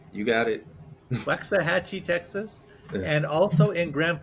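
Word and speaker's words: Waxahachie: planner in wa waxahachi is that how he pronounced you got it waxahachi Texas and also in Grand Prairie Texas he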